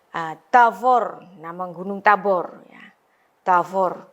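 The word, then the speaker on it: תבור: Tavor, 2 suku kata karena akhiran ini huruf mati, ya close syllable, ya, nama gunung.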